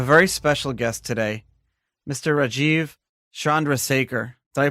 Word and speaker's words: Rajeev Chandrasekhar: Rajeev Chandrasekhar. Did I pronounce that right?